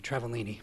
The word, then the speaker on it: Travaglini: Travaglini. How you doing? You pronounced it pretty well. It's actually a silent G, Travellini, but Oh, I'm sorry.